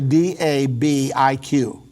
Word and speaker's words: Dabiq: and it is hard to find, but because it's spelled a little funny with B's and Q's and... Yeah, it's actually Dabiq.